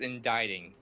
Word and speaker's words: indicting: that's what I read that as no it's pronounced inditing ow of course that is precisely what I